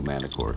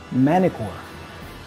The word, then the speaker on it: Manticore: Whenever you have this combination, N and T, there is a tendency, especially in American English, for us to drop the T and pronounce the N before. So if you listen closely, the actor says Manticore, Manticore, instead of Manticore.